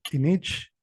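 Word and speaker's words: k'inich: También habrá notado que el acento o el tono siempre recae en la segunda sílaba de las palabras. Anteriormente les puse la palabra ishik, la palabra kinich y ahorita la palabra otot. En la segunda sílaba o en la segunda vocal es donde recae el acento.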